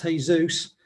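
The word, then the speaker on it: Jesús: called jesus gets dressed asus pronounced hey zeus drew himself up to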